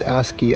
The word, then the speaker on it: ASCII: This is the ASCII Pad Pro, which apparently you pronounce it ASCII.